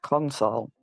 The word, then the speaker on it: console: kept saying the council, but it's not pronounced council. It's pronounced console. I might have said council accidentally because all the lawyer talk has made me think of lawyers all the time.